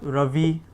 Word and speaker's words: Ravi: and we also have Ravi, which is the sun. Ravi, Rama. So we have the Ra sound being attached to a short and the Ra sound being attached to a long So Rama, Ravi.